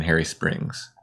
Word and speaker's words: Hairy Springs: Then Ken, Chad, and I were in Harry Springs, and that's where this episode starts. Is it named after a man, or is it named after fur? It's spelled H-A-I-R-Y. Oh, Harry Springs.